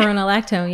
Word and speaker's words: spironolactone: And the other thing that was really incredible is that I had been on this medication called spironolactone. I'm not sure if I'm saying it right. Yeah, spironolactone, yeah.